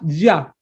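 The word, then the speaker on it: יה: contracción del nombre divino como se pronuncia normalmente lo vemos cuando estás solo en efecto se dice ya alabada ya porque él es bueno y aparece ya la contracción solita y entonces ahí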